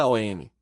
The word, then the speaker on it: AUM: O mantron ao M se pronúncia ao M. Há que abrir bem a boca com a vogal A, arredondá-la com U e fechá-la com o M.